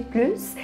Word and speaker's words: plus: mostrar a diferença, do "plus" quando ele é negativo e quando ele é positivo as pessoas começaram a pronunciar o S quando havia essa ambiguidade e quando o sentido dele era positivo quando as pessoas querem